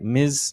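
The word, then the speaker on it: Ms: as an alternative right the pronunciation is like Miz like that so it doesn't refer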